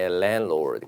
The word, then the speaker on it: landlord: 예, Landlord. 가운데 D 발음은 보통 안 합니다. 예, Landlord.